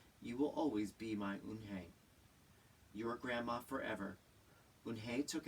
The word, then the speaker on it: Unhei: Yes, it's pronounced Eunhye.